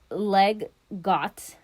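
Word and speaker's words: leg godt: But okay, so the name Lego is an abbreviation of two Danish words, which again I'm gonna mispronounce, but it's leg got.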